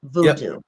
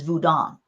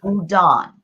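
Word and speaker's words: Vodou: gonna start with this Voodoo is absolutely incorrect way to pronounce the religion of the Haitian people the correct spelling and the correct well the correct saying is vodon and it's spelled vou o d n and yep voudon okay I don't know where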